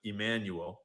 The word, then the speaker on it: Emanuel: chairman, but I guess his name is probably pronounced Ari Emmanuel because it's Jewish, not Mexican.